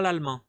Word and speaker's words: l'allemand: Je parle pas l'allemand parle pas l'allemand. C'est je je prononcé je ne parle pas je ne parle